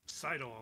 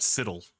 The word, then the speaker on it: sidle: of jumping, you can sidle along the side of the wall. So it's sidle, not siddle.